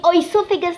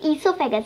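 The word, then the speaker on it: oesophagus: ये ओइसोफेगस नहीं है, ठीक है, काफ़ी बच्चे बोल रहे लाइक ओइसोफेगस ओइसोफेगस, तो ये ईसोफेगस है, ठीक है, ओ is silent, so इट इज़ ईसोफेगस, एंड इसको फूड पाइप भी बोला जाता है।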